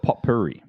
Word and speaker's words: potpourri: there you go po POI I like it POI POI and anyway in Australia we call it po Puri po Puri it makes sense it's spelled that way I'll accept that there